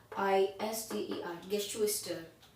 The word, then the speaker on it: Geschwister: गेश्वेस्टर, GESCHWISTER, गेश्वेस्टर मतलब sibling, गेश्वेस्टर।